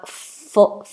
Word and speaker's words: full: The difference is the vowel. So you have full, full is a short full, and fool, long vowel oo.